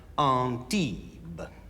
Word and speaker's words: Antibes: However, you might find the line more palatable if you pronounce the last word as Antibes.